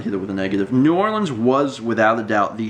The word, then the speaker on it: New Orleans: You have to pronounce it New Orleans. Not, as I've been told, Nolans. Because apparently only tourists pronounce it as Nolans, which I'm not...